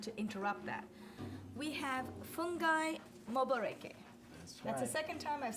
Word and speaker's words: Fungai Moboreke: We have Fungai Moboreke.